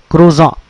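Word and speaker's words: croissant: remind you it's a croan croan is a breakfast bread roll c r o i SS a n t it's a French word so the t is silent croan is a rich bread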